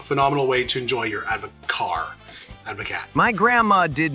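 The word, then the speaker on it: Advocaat: 2 ounces of our homemade Advocat. Oh, and there's another pronunciation one. I think it's meant to be Advocar, but I'm not gonna say that.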